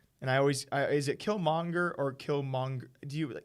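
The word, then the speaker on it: Killmonger: I always is it kill monger or kill monk do you be kind of like halfway pronounce the G in that kill monger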